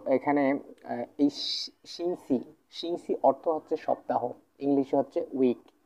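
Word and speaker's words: 星期: সো এখানে খুব সহজ দুটো টোনেই কিন্তু ফার্স্ট টোন ঠিক আছে তো তাহলে এটা উচ্চারণ আমরা কেমন করে করব Singh she sing she sing C মানে হচ্ছে সপ্তাহ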